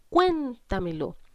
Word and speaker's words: cuéntamelo: En la palabra cuéntamelo identifico dónde cargo la voz. Cargo la voz en cuen, porque digo cuéntamelo.